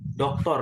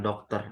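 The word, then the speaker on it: دكتور: doktor ya, Doktor. doktor bukan dokter. Aduktur itu maksudnya doktor. Kalau orang yang kuliahnya S3, nah Dok, gelarnya kan doktor tuh.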